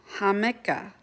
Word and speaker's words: jamaica: jicama, but maybe it's hamika. Hamaka. I wonder what, if anyone knows and can comment, it's spelled in Spanish, Jamaica. So I know the J makes a H, so hamika.